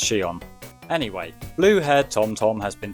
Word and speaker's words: Shion: I used to call him Shion, but apparently it's pronounced Shion.